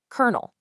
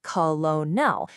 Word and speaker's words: colonel: really want to say colonel, but nope. It was originally borrowed from Italian. Then it got stuck in an older French spelling and today it is pronounced exactly like a kernel of popcorn.